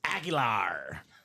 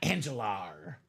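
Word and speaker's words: Aguilar: definitely butchered his name it's agilar not angelar H this is the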